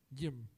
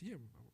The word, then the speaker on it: Yim: It's like Jim, but with a Y. Yim. I know. It took me a while. Everyone who meets is like, what's your name? Is it Jim? No, it's Yim.